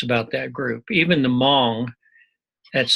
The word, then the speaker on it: Hmong: Even the Hmong, that's spelled Hmong, those are tribal people from Laos